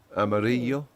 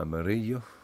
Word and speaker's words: Amarillo: Amarillo. Uh, it was spelled with two L's, but because it's two L's, it is Spanish, it's pronounced like a Y, as I was mentioning the other day.